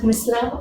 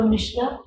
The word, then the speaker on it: Misra: Mishra usually is a surname which is often pronounced as Misra or Mishra, and we can say that कि it is derived from the origins of the.